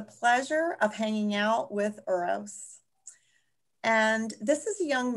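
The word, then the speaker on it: Uroš: And yeah, my name is Uros. Uros.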